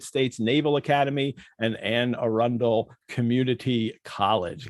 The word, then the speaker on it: Arundel: anne arundel community college got that pronunciation right yes you did yes you did well done i said arendelle earlier and she's like a rundown i'm like silly accent it could be it could go either way to be fair